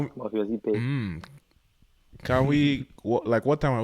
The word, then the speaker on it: Ikpe: While Facebook is just Muffius with my last name, Ipe, IKPE. The K is silent. Muffius Ipe.